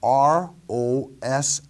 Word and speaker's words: Rosh: In the Hebrew, the words translated into English in the Hebrew manuscripts are R-O-S-H, pronounced Rosh.